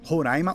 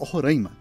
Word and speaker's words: Roraima: do seu próprio país tem uma briga de como se pronuncia o nome Roraima Roraima e muitos especialistas dizem que os dois estão certos Na verdade o estado